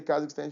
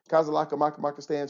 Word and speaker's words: Kazakhstan: I talk to her she doesn't say Kazakhstan she says kazaka Mak Maka stand she can't get it right it's okay love you